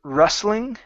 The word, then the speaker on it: rustling: go to the word rustling okay so in this word the t will not make a sound it's between two consonants the s and the l so we uh we make it disappear okay so um sound